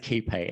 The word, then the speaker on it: QuayPay: place os and so we pronounce it keep a and the key part we founded this business steve and i in circular key in sydney so key